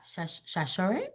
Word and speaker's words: Sasor: Shashore? Is that right? Yes, hey girl, Girl, hey. I've been saying your name wrong for probably 10 years.